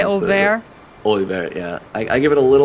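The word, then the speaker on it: Oeilvert: Like a lot of us, I used to say like Olivert, which is definitely not how that's pronounced. I've gotten closer to the correct, I think, like kind of French kind of.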